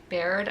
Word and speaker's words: Baird: They're not blood kin, her being a Baird, I think is how you say that.